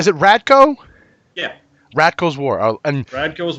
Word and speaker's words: Radko: How do you pronounce? Is it Radko?